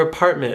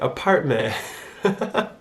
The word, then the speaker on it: apartment: When a Michigander finishes a word with the letter T, they actually don't pronounce that T sound.